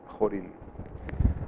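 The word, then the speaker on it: Chorin: mom he was Pollan Paul told me that he should be pronounced horan okay so now what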